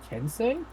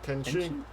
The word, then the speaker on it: Kenshi: It's actually thanks to Reggie I learned a lot about Kensei, or however you pronounce that one game. Kenshi?